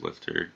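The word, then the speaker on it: LFTR: reactors, commonly pronounced LIFTR, are nuclear reactors that use thorium in combination with fluoride-based molten liquid sulfur fuel.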